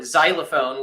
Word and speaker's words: xylophone: like they need it like X-ray or you know xylophone which is pronounced with a Z but spelled with an X.